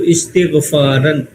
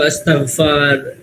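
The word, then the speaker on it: استغفار: जैसे इस्तकफ यस्तकफु इस्तगफारन अब इसको बहुत सारे लोग अस्तकफार जो भी है लेकिन ये इसका सही प्रोनाउंसिएशन क्या है जो जिस पैटर्न पे ये इस्तगफार पहले पे ज़ेर तीसरे पर ज़ेर ये होता है ये पैटर्न है इस्तगफार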